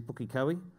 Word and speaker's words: Pukekohe: That's not Pookie, it's actually Pukekohe.